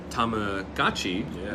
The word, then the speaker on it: Tamagotchi: a PR team from Tamagotchi, which now we're supposed to spread the word that everybody's pronouncing it wrong for the last 20 years. It's Tamagotchi.